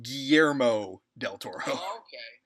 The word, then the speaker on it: Guillermo del Toro: be an interesting experience okay his name is pronounced Guillermo del Toro just wanted to make sure we got that